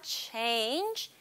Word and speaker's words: change: I want to 변경하다, change. Change 할 때 발음을 입술을 앞으로 쭉 내미는 게 중요해요.